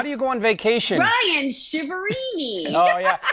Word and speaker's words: Ryan Chiaverini: Ryan Chiaverini. Oh yeah, it's been butchered. Nobody wants to do that. Yeah, it's been butchered before, that's for sure. But you're saying it perfectly, the American way.